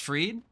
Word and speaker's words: Fried: bottom landed appreciate follow on Tik Tok it's pronounced freed I'll pronounce it Max freed when he uh